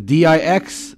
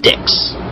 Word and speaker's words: Dix: That's right, the D-I-X there in the middle is not pronounced Dix. It's Dix, as in the French word for 10.